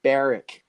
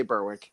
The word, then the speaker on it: Berwick: 2019 there's meth everywhere it's actually because I from England it's pronouncing barrack yeah but but no one says that we all say Berwick let's be honest but